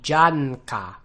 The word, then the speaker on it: Janka: good at your pronunciation, you could be sure to pronounce the n sound as receiving its own beat. This is actually something I forget to do a lot of the time. So if you're going to pronounce it really well, it'd be janka.